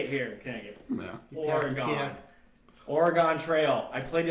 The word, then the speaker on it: Oregon: So it is pronounced like Oregon, like Whatever. a body- Organya! No, it's like a body part like Oregon.